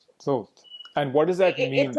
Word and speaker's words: Thoth: In the way that you would pronounce the word oath. Okay, so Thoth.